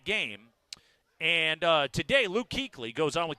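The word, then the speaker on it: Kuechly: Panthers yeah really looks like cley but it's pronounced Keeley it bothers you I can tell does it always has you're editing your disdain for the name but Luke Keeley is talking a k Adams he's up in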